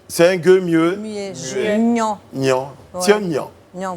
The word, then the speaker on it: Niang: Elle a dit Niang. Niang. C'est un G, c'est un G muet. C'est un gueux mieux. Muet. Niang.